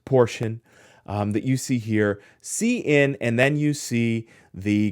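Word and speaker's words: cin: here c in hours so it's c in that's how that's pronounced hours this is going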